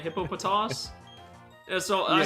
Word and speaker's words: Hippopotas: Hippopotas. Yeah. So, I say hippopotas. Hippopotamus. Well, it's close to hippopotamus.